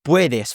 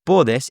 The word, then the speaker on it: puedes: The reason why it's puedes, for example, and not podes is because the stress is on the O, in the beginning O.